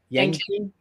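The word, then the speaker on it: yangqin: Yangchin. Yangchin. Okay, as played by Gerrard. And what's that? Yangchin, like your chin.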